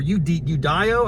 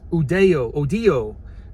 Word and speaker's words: Udio: Now that could be pronounced a lot of different ways. As an American, I'm gonna be like UDO or UDIO. I think it's gonna be more like Hispaniola, Odio.